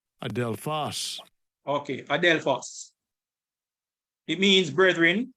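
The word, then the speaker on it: ἀδελφός: So it means adelphos. This is the pronunciation. Strong's G80, adelphos. Adelphos.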